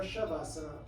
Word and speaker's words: Shavasana: name of subhasana or shavasana lots of Sanskrit words start with an S or have an s in there it's actually pronounced sh unknown to me why